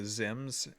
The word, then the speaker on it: XIMS: are using something called I think it's called like a ZIMS. It's spelled XIMS.